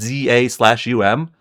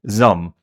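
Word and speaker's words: ZA/UM: I finally learned how it's pronounced that Zaum. It's just one syllable pretty much. It's like Zum.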